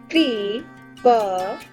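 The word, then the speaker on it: कृपया: Its pronunciation is kripya.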